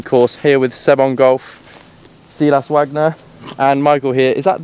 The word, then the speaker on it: Silas Wagner: that right yes okay is alright that sounds good isn't it I go like when I go for the German accent I go really over the top and I think I